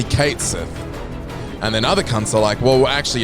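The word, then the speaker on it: Cait Sith: it wrong for years it's not cat Sith so some people say cat Sith cuz he's a cat and then people like it's actually Kate and then other [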